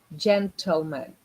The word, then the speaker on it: gentleman: Because this syllable, gentle, it's not gently. It happens again in bottle. You don't say bottle. You say bottle. You say table. The same way you need to say gentle, gentleman, gentleman.